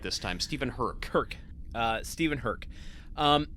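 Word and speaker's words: Stephen Herek: so uh I have nothing but praise for Stephen Herrick step herck raised my awareness of gortex boots I I actually I read this it's it's pronounced Stephen herk herk okay we've had you know we've had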